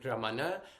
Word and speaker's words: Ramana: So this R, both in Radha and Ramana, they're not quite rolled, but it's like you're almost about to roll your R.